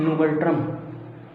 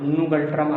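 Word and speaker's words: ngultrum: भूटान की राजधानी थिम्पू, और भूटान की जो मुद्रा है वो क्या है, नुगल्ट्रम, नुगल्ट्रम। थोड़ा प्रोनाउंसिएशन इसका टाइट है पर समझिए, नुगल्ट्रम, आधा ना गा ला ट्रम।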